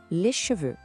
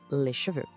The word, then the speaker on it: les cheveux: Em francês, a palavra cabelo é quase sempre usada no plural les cheveux. A pronúncia é les cheveux. Note que o X no final não tem som, ele é mudo.